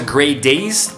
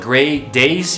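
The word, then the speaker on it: Grey Daze: there as well then he moved on to great days you know which is spelled differently but you pronounce it great days you know like the day that's great you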